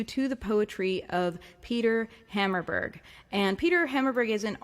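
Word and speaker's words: Hammarberg: go support peter hammerberg his last name is spelled hammer but with an r h a m m a r b e r g so think about like a hammer but if it was a pirate like r hammerberg yep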